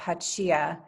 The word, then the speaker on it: Hachiya: So Hachiya, and that's how you say it at the top, Hachiya, is, as I said, large and shiny, shaped like an acorn or a heart.